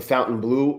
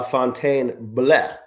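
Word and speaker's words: Fontainebleau: cuz I was thinking of like uh you got the the fountain blue over here, but it's pronounced La Fontaine Bleh B L E A U Jason Vladimir I'll be back on for power hour.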